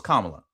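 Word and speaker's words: Kamala: Nobody can still to this day explain what Camala Harris act um Camala I'm hopefully I'm saying it right. Kamla. No, no, it's Kamla.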